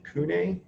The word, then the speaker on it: CVNE: On the label, it looks like CVNE, but sometimes people pronounce it Cune.